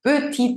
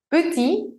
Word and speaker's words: petit: Por ejemplo, un petit enfant. Petit, esa T no suena si la palabra está sola, pero se encuentra con un sustantivo que empieza con vocal, enfant, y hago la liaison.